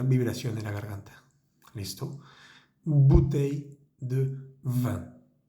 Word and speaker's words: bouteille: Acá es importante resaltar que la palabra bouteille comienza con B grande, se pronuncia con los dos labios, B, bouteille de vin.